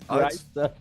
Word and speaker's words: Greif: Now it's Greif. It's fine. I mean, it's a German pronunciation.